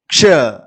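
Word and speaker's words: क्ष: இந்த எழுத்தை ஹிந்தியில நாம உச்சரிக்கும் போது க்ஷ க்ஷ அப்படின்னு சொல்லுவோம். அதாவது 2 எழுத்துக்கள் சேர்ந்திருக்குன்னு நான் ஆல்ரெடி சொல்லியிருக்கேன். பாருங்க, க்ஷ க்ஷ. தமிழ்ல உச்சரிப்பு பாருங்க. இங்கிலீஷ்ல தான் கொடுத்துருக்கேன், KSHA க்ஷ. ஷன்னு சொல்லக்கூடாது, கே சவுண்டோட சொல்லணும்.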